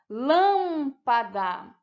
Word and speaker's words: lâmpada: Lâmpada. A sílaba mais forte é a lã, que é a antepenúltima.